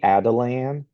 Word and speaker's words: Atalan: again we're called the this is called the Adelan and the spelling is a little tricky at first. Uh, so Adelan is spelled A T A L A N. The Adelan. Uh and and so as